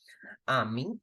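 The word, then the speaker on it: amie: friend you have to you put extra e afterwards but the pronunciation remains exactly the same Amy Amy now okay how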